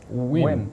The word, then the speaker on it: Nguyen: Win. Win. Is that, spelled is that Nguyen, but really? Yes. every poker player knows it's pronounced Win.